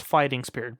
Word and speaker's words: F.A.I.ting Spirit: It'd be pronounced Fighting Spirit, but it's Ignister support.